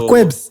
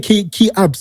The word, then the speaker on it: Queps: It's Queps. Yeah, Queps. I used to be like key ups or something. No, it's Queps.